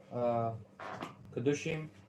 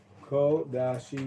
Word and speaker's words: Kodashim: Kedushim. Kodashim is the way it should be pronounced.